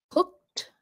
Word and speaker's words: cooked: Um, cooked. It ends in that C sound. Cooked. So, it sounds like a T at the end.